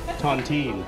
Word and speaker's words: Tontine: How do you pronounce it? Tontine.